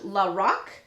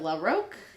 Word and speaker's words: LaRoque: of our patreon viewers lorac instead of LaRoque yeah I suck so